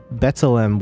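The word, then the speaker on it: B'Tselem: OB24 said, Guam, you pronounced Betzelem well. The only issue was the accent is on the first E.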